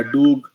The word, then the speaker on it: DOGE: उसको लोग डोज या डोग प्रोनाउंस करते हैं।